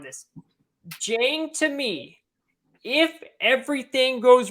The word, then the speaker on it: Dieng: It's Osman Dieng out of New Zealand. Okay, it's Jang. Like, well, I think yes, you're right, Jang. Yeah, Jang. I'm glad you corrected me on this. Jang, to me, if everything